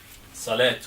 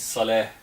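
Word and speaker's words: صلاة: Salat with T. This is not correct. It's Salah. This is how to pronounce.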